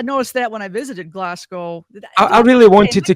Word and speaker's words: Glasgow: Like is it Okay how is it actually pronounced? Is it Glasgow or is it Glasgow? Glasgow.